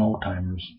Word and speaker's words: Alzheimer's: a HBO series on Old Timers all all-timers and I guess it's a couple timers it's alh em my ner or something like that uh not spelled like Alzheimer's but pronounce like Old Timers it was interesting it